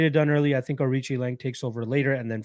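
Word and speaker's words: Aoriqileng: more than barry honestly zero bob is saying arichi lange i know it's sometimes seen as kalangari but i know it's pronounced arichi lang i think he wins but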